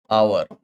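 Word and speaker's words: hour: एन लगाते, जैसे हमने कहा honest, आवर, ऑनर, honourable, honorary, air. यस, पढ़िए बच्चों फटाफट। ऑनेस्ट, हाँ इनमें सब में एच साइलेंट होता है बच्चों।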